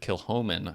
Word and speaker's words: Kilchoman: The Scotch producer Kilchoman, I believe is how it's pronounced. I think I was mispronouncing it in last year's episode. Yeah, the C is silent, I believe.